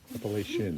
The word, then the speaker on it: Appalachian: hampshire all right yeah how do you say the name of this trail by the way appalachian appalachian yes like the right way shin yeah like your shin all right good all